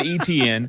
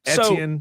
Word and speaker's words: Etienne: Everybody said ETN. ETN. Google says Etienne.